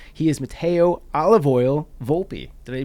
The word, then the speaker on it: Volpi: He is Matteo Olive Oil Volpi. Did I pronounce the last name correctly?